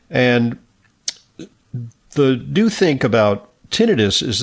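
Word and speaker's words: tinnitus: number of Americans uh sometimes referred to as tinidis or tonitis. I think tinidis the more commonly accepted pronunciation and you know it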